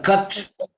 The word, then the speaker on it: CURT: But the cut, CURT cut, I pronounce it as a one word.